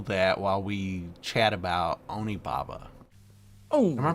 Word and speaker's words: Onibaba: the first of two classic japanese horror films onababa is the first one we have a trailer for that i think i'm gonna go and roll that while we chat about onibaba oh am i pronouncing that right again what about you you're